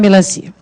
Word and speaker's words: melancia: Melancia, muita gente acha que é o cia, que é a sílaba tônica, mesmo quando a gente chama, certo? Mesmo quando a gente chama. Mas presta atenção, vou chamar de novo, ó. O melancia. Percebam que é a sílaba si que realmente se estende, não é o a. Mas a nossa propensão é de achar que é o cia, porque o a também tem som forte.